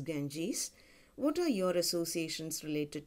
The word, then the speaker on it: Ganges: Ganges is our river Ganga Nadi in English it's pronounced as Ganges what are your associations